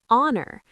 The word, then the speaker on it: honor: An hour, an honest person, an honor. These are the most common silent H words.